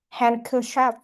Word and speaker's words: handkerchief: So next one we have the letter D is silent in these words uh west day handsome handkerchief.